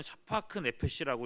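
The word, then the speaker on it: שָׁפַךְ נֶפֶשׁ: 히브리어로는 샤파크 네페시라고 읽는데, 이 생명이 물처럼 쏟아진다는 표현이에요.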